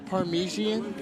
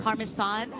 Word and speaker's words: Parmesan: You sure it's not Parmesian? Well, one or the other. Parmesan. Yes, you know that's how you say it.